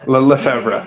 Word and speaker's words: Lefevra: Oh my gosh, Lefevra. It's Lefevra.